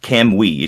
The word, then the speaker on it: Kamui: um and it's pronounced can we should be be two syllables and you kind of unconsciously say the U but it's not kamui it's kamui like put the emphasis on the cam it's we should have